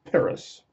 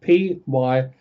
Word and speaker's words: Pyrrhus: Anyway, this man was called Pyrrhus. Got to spell it again. P-Y-R-R-H-U-S, Pyrrhus.